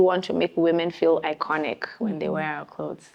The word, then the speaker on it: IKOJN: And so the name is icon, the J is silent. We hear it all the time. Guys say Icon J.